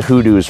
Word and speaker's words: hoodoo: Oh, and if you're playing a drinking game along with this video, drink every time I say hoodoo. It's just such a fun word. because it rhymes with voodoo.